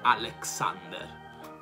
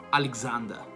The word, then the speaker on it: Alexander: La stessa cosa succede per il nome Alessandro, non è Alexander, ma Alexander.